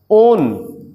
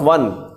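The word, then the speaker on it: -one: ओन, कीटोन, नॉट वन, spelling same है but chemistry में इसको ओन कहते हैं।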